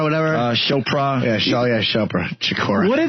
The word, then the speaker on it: Chopra: Deepak Shakur, whatever? Chopra. Yeah, Chopra. Shakur. What are these people called for? What does he do again? Tupac? No. This is the guy who's a spiritualist. Chopra.